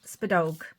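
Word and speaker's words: spideog: Now in Irish, the robin is pronounced spedog.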